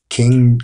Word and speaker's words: Qing: trade concessions upon the Chinese King or Queen King Dynasty, with spelled with a Q, including significantly unimpeded Christian missionary activities at a time when all of southern China was wrested from the Qing control under the Taiping